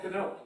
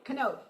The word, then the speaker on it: Canode: German, I want the German pronunciation. Oh, Canode. Canode, okay.